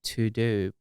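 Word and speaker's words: TeuxDeux: information so I use something called to do but it's spelled t-e-u-x-d-e-u-x and it's a very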